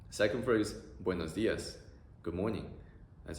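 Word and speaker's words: buenos días: The pronunciation is also very simple, oe, o, ia, oe, o, ia, buenos dias, buenos dias.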